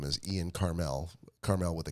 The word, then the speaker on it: Carmel: Caramel or Carmel? Carmel. Wait, okay, hang on. We're switching up too much now. Like the town in California, Carmel, California. I call it caramel. Not familiar? So I'll spell it for you. Never if been that helps. Karmel. Okay, so not like caramel.